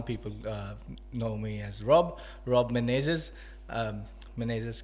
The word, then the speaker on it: Menezes: know me as Rob Menezes. Menezes का भी we hardly get people who are able to say Menezes properly. So, Because- but I will say the way to say it is Rob Menezes.